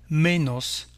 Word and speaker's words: menos: Moins s'écrit ainsi, se termine par un S, on dira donc menos, más o menos, plus ou moins.